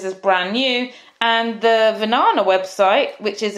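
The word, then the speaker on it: Vinana: And yes, so many people tell me that Venana rhymes with banana and they just remember it by banana.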